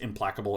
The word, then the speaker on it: Implacable: Yeah, I do think that this is pronounced Implacable Earth, but I like Implaceable Earth. I just like saying that.